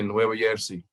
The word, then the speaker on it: Nueva Jersey: Most Hispanic people won't pronounce the J like we do in English. They'll pronounce it like a Y. They'll say Nueva Jersey.